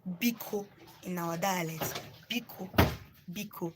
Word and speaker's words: Biko: So, Biko in our please in our dialect is called Biko. So let me just spell it for you.